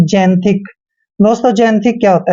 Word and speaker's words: xanthic: जैसे कि मैंने बताया एक्स के बाद ए आता है तो एक्स का उच्चारण हम जय करते हैं और ए का उच्चारण हमने ए करना है। एन को आधा न पढ़ते हैं और टी एच का उच्चारण हम थ करेंगे और आई को ई की मात्रा पढ़ते हैं। सी का उच्चारण यहाँ पर क करना है, यानी कि जैंथिक।